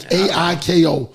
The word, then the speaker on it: Aiko: How do you pronounce the name? It's like Aiko.